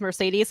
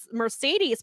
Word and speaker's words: Mercedes: correct, they will be using them here because Mercedes came out, and it's interesting. So I want to make this so. Kevin Kelly was pronouncing it as Monet, like most of us have, but Mercedes pronounces it as Money.